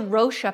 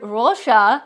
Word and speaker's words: Roxa: new Natasha denona palette and it's called the rosha palette I know that it's spelled Ro oxa but the word rosha is purple in Portuguese so it is pronounced